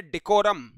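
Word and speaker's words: decorum: पहला जो हमारा वर्ड है स्क्रीन के ऊपर यह इसका उच्चारण है डिकोरम। क्या भाई? डिकोरम। और डिकोरम को याद करने का तरीका है देखो राम।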